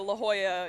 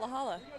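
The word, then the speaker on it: La Jolla: the consider this my formal apology to the La Hoya uh United Club I was today years old when uh I learned that it's pronounced La Hoya not laala um because I'm from Utah and I don't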